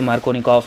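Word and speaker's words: Markovnikov: अच्छा, spelling मार्कोनिकॉफ की कहीं कहीं KOFF भी लिखी रहती है, तो जो भी सही हो आप उसको कंसीडर कर सकते हैं, बोलते मार्कोनिकॉफ ही है, ठीक है।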